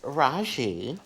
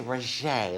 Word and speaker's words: Rajee: at the seams so how do you pronounce your name it's raji but some people say roger like jack kay i'll